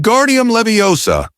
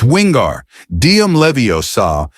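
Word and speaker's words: Wingardium Leviosa: much more luck when guardium levosa he shouted waving his long arms like a windmill you're saying it wrong Harry heard Hermione snap it's wingar dim levosa make the gar nice and long you do it then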